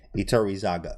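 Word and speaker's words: Iturrizaga: Iturizaga. There we go. Got him. Iturizaga. Yep. There he is. And then Kostia. Kostia is up here too as well. Iturizaga.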